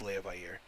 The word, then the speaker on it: Leviathan: the Elven Kingdom is Leviathan. Oh, there we are. The Vi and the Air are technically 2 different. Yeah, they're pronounced separately, which is confusing.